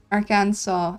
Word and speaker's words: Arkansas: Arkansas, I see. Yeah. I figured that I must have been pronouncing it wrong if the joke is see and saw.